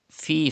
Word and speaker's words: فِي: Fi, first of all, you have to stretch ya madda. There is zir before ya sakin, it is ya madda. You have to stretch up to 2 harkat like this.